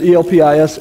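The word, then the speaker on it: ἐλπίς: He uses the Greek word that's used is spelled, and I don't know if it matters, E-L-P-I-S, Elpis.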